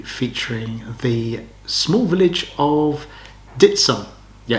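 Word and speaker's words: Dittisham: video will be featuring the small village of ditson yeah it's pronounced ditson's actually spelled ditty sham uh it's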